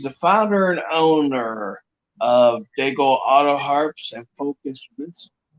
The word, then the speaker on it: d'Aigle: Is it the way that the French would pronounce it, as far as just Daigle? Yeah. The way we pronounce it is it rhymes with bagel.